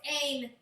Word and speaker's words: Ain: I was like, oh, it's Ain, rhymes with champagne.